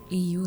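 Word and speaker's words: Aeos: Aus. Ah a e o s. Paano? Paano pino-pronounce? Aus.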